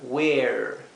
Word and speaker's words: where: en inglés sí es esta segunda e es muda y esta primera e se pronuncia bien larga Where Sí eso es una